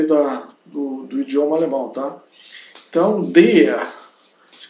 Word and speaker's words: der: Esse círculo azul, der se pronuncia der, não é deia, não, é der, com uma D forte, que logramos tocando o paladar com a língua sem razonar los dientes. Então, tocando o paladar com a língua sem roçar, né, nos dentes.